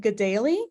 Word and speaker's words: Kateri: In Mohawk, K's are pronounced as G's and T's are pronounced as D's. So that's where the pronunciation, I pronounce it Gadali because that's how the community that I was in pronounced it growing up.